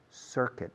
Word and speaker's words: circuit: Es la palabra que peor se pronuncia en el mundo técnico, en España, en inglés. Circuit, no es circuit, por favor.